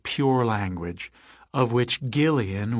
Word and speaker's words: Gillian: pure language, of which Gillian with a hard G was supposedly an example.